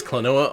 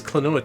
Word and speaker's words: Klonoa: good it is clanoa on the gba okay it is also a puzzle platformer what why he's he's such a good boy why would you steal him noah pronounced like quinoa somehow yeah that's that's